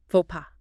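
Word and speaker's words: faux pas: Fauxa. Ah, yes. Pronounced fauxa. Straight from French.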